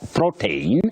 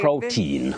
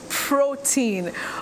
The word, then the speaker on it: protein: hear around yes okay protein protein with a stress at the onset at the beginning protein okay I heard you